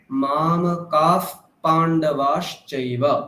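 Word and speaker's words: मामकाः: তাহলে আমরা এখানে বিসর্গটাকে কি পেলাম? ফকার পেলাম। কি পেলাম? ফকার, তাই তো? উচ্চারণ কেমন হবে? মাম কাফ, মাম কাফ পাণ্ডবাশ্চৈব।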